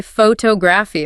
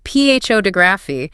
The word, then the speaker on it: photography: If you say photography, I understand you. If you say phapi, putting the stress on the first syllable, my brain has to work to figure out what you mean.